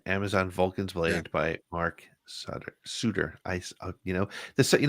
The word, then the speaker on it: Sutter: said Etc right but it's pronounced like the suitors from the NHL it's German it's German it's German